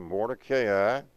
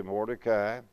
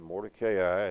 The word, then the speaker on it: Mordecai: name was, and again, I'm going to go according to the diacritical marking, Mordecai. Most people say Mordecai. I'm guilty of done that many times. Mordecai is the way it's marked here. Long A, accent on the CA, Mordecai.